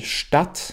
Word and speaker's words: Stadt: Also es ist irgendwo in der Mitte zwischen dem kurzen A und dem langen A auf Deutsch. Es ist sehr wichtig, dass du differenzierst zwischen den Wörtern, zum Beispiel Stadt, wo die Personen leben, und Staat, Stadt, Staat.